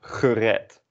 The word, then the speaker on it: gered: And gered is also pronounced the same as the e in de.